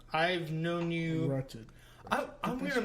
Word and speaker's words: Wretched: Now, Richard, I've known you. Wretched. I'm going to shit mispronounce right.